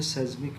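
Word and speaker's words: seismic: रही है वि इज एस इ आई एस एम आई सी इसको प्रोनाउंस करेंगे सेज्मिक वेव्स।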